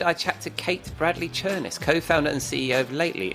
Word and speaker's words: Chernis: Yeah, well, so you just asked me how to pronounce my last name, and it was Chernis, and I said rhymes with furnace.